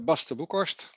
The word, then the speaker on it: Bas de Boekhorst: My name is Bas de Boekhorst. That is how it's pronounced in Dutch.